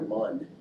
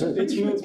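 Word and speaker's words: Mün: Trying to figure out if we're supposed to pronounce that moon or mun. No, it's moon. Moon. There's supposed to be 2 dots.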